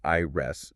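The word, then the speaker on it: Ires: There's Ivy, who has green hair, and IRS, which is spelled I R E S, but pronounced I rest, and she has magenta hair.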